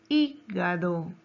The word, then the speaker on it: hígado: En la palabra hígado, ¿dónde lleva la mayor fuerza de voz? Lleva en I, ¿verdad? En la antepenúltima sílaba. Por eso es una palabra esdrújula.